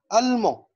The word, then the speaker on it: allemand: طيب، ألمون ألمون ألمون بتخلص بأون كونسون بدي، الدي ما ننطقهاش، رجعنا بقى للقاعدة لغاج اللي احنا اتكلمنا عليها.